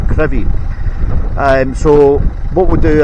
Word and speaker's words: Crovie: Now I will be parking up in Gardenstown and walking to a place called Crevy. It's actually spelled Crov, but it's pronounced Crevy.